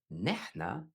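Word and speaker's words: نحنا: Nahna, we. Also pronounced "ehna" in some dialects.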